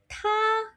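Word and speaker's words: tā: Now, he, she, it in Mandarin is ta. Ta. Make sure you're blowing because it starts with alphabet T. Hence, you got to blow.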